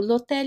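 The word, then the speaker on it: l'hôtel: or a silent h so like lotel so lotel in French the H is silent so we do not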